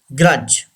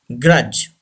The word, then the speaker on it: grudge: Grudge. Say this word. Grudge. D should be silent. Grudge.